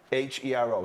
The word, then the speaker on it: Cavalheiro: It's Cavalhero, so like arrow at the end almost, right?